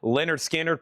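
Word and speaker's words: Lynyrd Skynyrd: Leonard Skinnard. Pronounced Leonard Skard.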